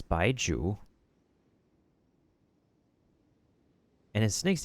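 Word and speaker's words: Baizhu: Wait, also let me make sure that I know how to pronounce his name and the name of his snake cuz of course Chinese. Yeah, it's Baiju and his snake's name is Chong.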